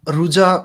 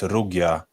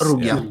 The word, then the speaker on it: Rugia: So, Ruja, maybe the pronunciation is not correct. Actually, it's like Slavic. It's Polish word. It's also German word. It's Rugia. So it's Rugia.